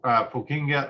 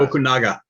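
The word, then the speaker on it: Fukunaga: Carrie Joey Fukinga. I mispronounced that and I apologize. Okunaga. Yes, thank you.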